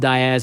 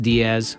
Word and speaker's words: Diaz: It's pronounced Diaz. It's not pronounced Diaz.